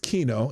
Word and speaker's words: quinoa: And it's it is pronounced Kino even though it's spelled Quinoa.